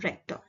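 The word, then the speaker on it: Richter: is a Rector scale you can see the spelling is Richa but it is pronounced Rector now we have seen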